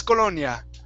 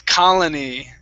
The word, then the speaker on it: colony: word you went "oh i know this one it's colonia." right all right so it's it's it's colony right okay nice yeah see